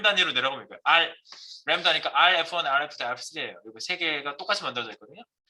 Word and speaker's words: rem: 램 들으면 양이 램인가 새끼야? 램 그 램이 아니고 램은 램 발음이 그래요.